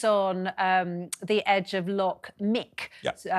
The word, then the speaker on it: Muick: And that was on the edge of Loch Mick, spelled Muick, but pronounced Mick, which is also, there's